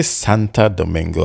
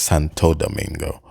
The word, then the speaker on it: Santo Domingo: uh Santo Domingo I I say Santa Domingo I think it's Santo Domingo um I don't know